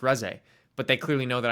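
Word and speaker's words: Reze: That's why people laugh when I call Reese Ree because I don't I pronounce the character the way I read it because I never watched it until somebody corrects me and they're like it's pronounced Res.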